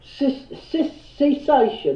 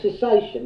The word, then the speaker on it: cessation: a group a solution sis cation or cessation as it's pronounced there you go there